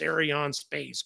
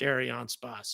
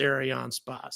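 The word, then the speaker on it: Arianespace: the comments saying it's not Aron SP it's AR on space squit trying to sound like your French blah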